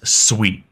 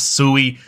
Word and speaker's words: Sui: first off what is sweet and first off what's how is it pronounced it is Sweet It Is Not sui I've been corrected multiple